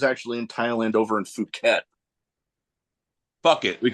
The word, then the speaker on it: Phuket: I told him I was like, it's pronounced Phuket. He goes, not when I'm there.